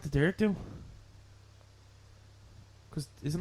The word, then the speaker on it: Dearg Due: Dearg do. Dearg do. Ah! Ah! Ah! Dearg do.